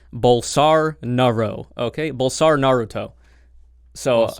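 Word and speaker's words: Bolsonaro: Portuguese speaking people have told me it's actually pronounced bowls are Naro okay bowls are Naruto so on our route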